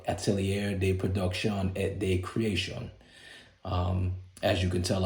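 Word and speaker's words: Atelier de Production et de Création: do with the pronunciation APC is an acronym for Atelier day production at day creation um as you can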